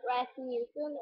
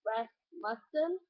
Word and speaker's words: Rasmussen: Oh, by the way, to pronounce my last name, it's not Rasmussen, it's Rasmussen.